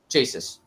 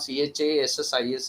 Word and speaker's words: chassis: So they went for the idea that CHASSIS would be chases. But the exact pronunciation of CHASSIS is chassis.